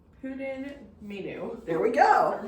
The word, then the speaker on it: Pwdin Mynwy: Okay, it's pronounced Pwdin menu. There we go. Or menu.